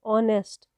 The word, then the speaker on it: honest: Rahim is dash dash ऑनेस्ट fellow, तो ये जो वर्ड ऑनेस्ट है it starts with H, that is a consonant letter, but in this word it is voiceless, इसको silent हम रखते हैं, तो यहाँ पर ऑनेस्ट O sound, that is a vowel sound, so we will use the article an here.